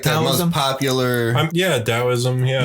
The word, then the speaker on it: Taoism: Taoism. Yeah. No, Taoism. No, it's with a D. Oh, is it? You pronounce it with a D. Yeah, it's spelled T.